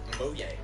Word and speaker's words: Mojang: He founded Mojang Studios. Technically, in Swedish, it's pronounced Mojang, but we do not care.